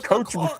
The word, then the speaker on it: Koch: The Koch brothers, the Koch brothers. It's the Koch brothers.